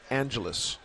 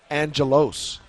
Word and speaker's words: Angelos: one thing for me your name is Angelus your last name is spelled though with an O so a lot of people that when you first came in said Angelos what is the deal